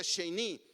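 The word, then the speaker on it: שני: Esta frase de segunda vez es una palabra hebrea que se pronuncia sheni, que significa literalmente una segunda oportunidad.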